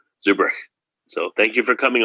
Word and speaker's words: Zurbruegg: for people listening uh your last name is spelled Zur b r u e g g so it's pronounced differently than at least people in America would would see it so Zuber so thank you for